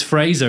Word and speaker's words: Fraser: Were you a Fraser bitch? I did say Fraser. It's Fraser, isn't it?